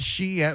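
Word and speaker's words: Shein: That's how you say it. Sheen. Like sheen.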